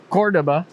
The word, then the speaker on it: Córdoba: the bridge more effectively cordoba has the accent on the first doe cordoba in spanish it's the capital of